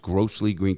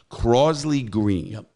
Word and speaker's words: Crosley Green: a case on growth if you pronounce it grossly green crossley green it's crosley crosley green this case i've been